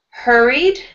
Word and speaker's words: hurried: And hurried. Hurried. Now this one I need H sound.